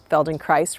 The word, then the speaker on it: Feldenkrais: of people with the Feldenkrais rhymes with paradise method.